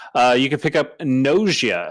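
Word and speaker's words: Gnosia: you could pick up nausea i think that's how you'd pronounce it yeah g-n-o-s-i-a for the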